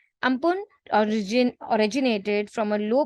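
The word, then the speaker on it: Amphan: from Thailand the world ampen is pronounced as which means Sky ampun origin originated from a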